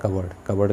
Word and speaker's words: cupboard: कबर्ड, इसमें P silent है और इसे पढ़ा जाता है कबर्ड का मतलब होता है आलमारी।